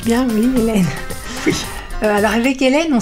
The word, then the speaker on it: Hélène: Je prononce bien, oui, Hélène.